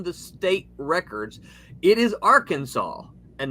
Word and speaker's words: Arkansas: It is Arkansas and not Arkansas. I'd love to know how the pronunciation came about because I figured it out.